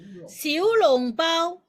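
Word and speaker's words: 小籠包: 그래서 시우롱바오, 원래 발음은 시우롱바오.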